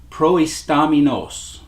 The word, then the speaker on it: proistamenos: the word, and the Greek word that is translated leading in the English is proistaminos. Proistaminos. It's spelled Proistamenos. Proistaminos.